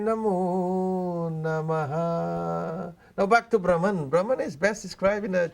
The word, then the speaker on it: Brahman: Well, it's spelled Brahman. Brahman.